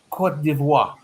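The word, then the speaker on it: Côte d'Ivoire: top three are south africa uh kenya and cote d'ivoire am i pronounced right yes yes yes okay so those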